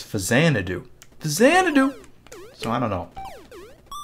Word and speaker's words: Faxanadu: But then I was pronouncing it Faxanadu, and really it's Fazanadu.